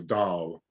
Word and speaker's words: Dahl: It's sort of, it's a bit of an extended A, so Dahl.